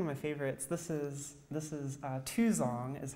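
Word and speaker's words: 2x0ng: This is Tuzong, is how you pronounce that.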